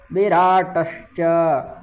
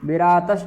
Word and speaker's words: विराट: धान यु यु धान विराट विराट प्रकार है विरात नहीं है विराट द्रुपद महारथ यनो